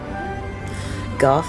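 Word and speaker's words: Gogh: Golf is correct pronunciation apparently, but I feel like it's pretentious. It definitely sounds pretentious.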